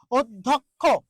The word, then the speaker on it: অধ্যক্ষ: শিক্ষার্থী তারপর একটা জিনিস অধ্যক্ষ অধ্যক্ষ এই যে জ ফলা আছে দেখুন এই যে জ ফলা বলা হয়েছে জ ফলার আগে একটা অ আছে তাহলে এই অ এর উচ্চারণটা কি হবে ও হবে অ এর উচ্চারণটা কি